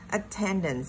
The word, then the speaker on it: attendance: Tiếp theo, attendance là một danh từ, cũng nhấn vào trọng âm 2 nè.